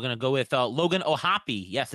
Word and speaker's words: O'Hoppe: all right we're gonna go with uh Logan ohopy yes it's pronounced like floppio hoppy uh he the uh